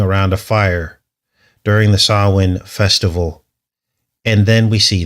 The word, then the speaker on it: Samhain: which is spelt Samhain, Samhain, but it's pronounced Samhain.